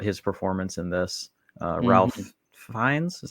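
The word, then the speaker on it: Ralph Fiennes: a lot about his performance in this uh Ralph fines is that how you pronounce it um Rines yeah yeah yeah yeah anyway I saw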